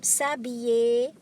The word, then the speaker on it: s'habiller: Next, we have the verb s'habiller, to get dressed. Je m'habille, tu t'habilles, il, elle s'habille. Please take note, the L is silent, it becomes Y.